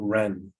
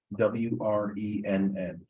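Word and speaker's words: Wrenn: uh project thank you thank you um Ren w-r-e-n-n great pronunciation uh my name is Wren I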